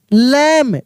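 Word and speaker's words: lamb: Found a lost L ओ एस T lost लम अब देखिए यहां पे क्या बी साइलेंट रहता है एल ए एम बी लिखा है ना तो बी साइलेंट रहेगा यानी यानी लैंप पढ़ेंगे।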